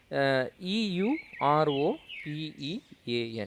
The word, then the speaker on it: European: So we should not add and, because it is pronounced as a the letter, that is the word European is pronounced with the sound of an consonant, okay.